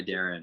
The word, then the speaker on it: Darin: it's uh made by darren so made by my name is spelled phonetically d a d-a-r-i-n like